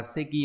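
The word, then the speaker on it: 席: Chữ tịch này đọc là seki, là cái ghế.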